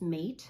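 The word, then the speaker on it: Máté: My given name is Mate, like roommate, but it's spelled like meth, which is the drug.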